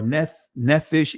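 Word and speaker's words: נפש: So soul, napash, or nephish in the Israeli pronunciation.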